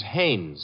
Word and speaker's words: Haynes: No, not Hines. Haynes. Couldn't be Huntingburg?